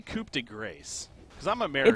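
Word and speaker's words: coup de grâce: How do you pronounce the ability of PA, the ultimate? Coup de grace. Coup de grace? Okay. Coup de grace. I mean, that's how I say it.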